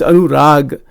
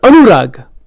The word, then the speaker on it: anurag: I'm not saying it right. It's anurag. The word is rag. But anurag.